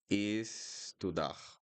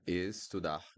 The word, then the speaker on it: estudar: And then we have estudar. Again, estudar. E. And if you're pronouncing this as L, it's not 100% correct. You could say it eu, eu, eu, eu. So we have here the closed e, e, e, e, e, e.